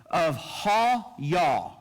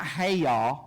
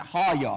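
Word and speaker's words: hayah: It's the word of ha-yah, okay? Not hey-yah, okay? It's ha-yah. It's how you pronounce it, ha-yah.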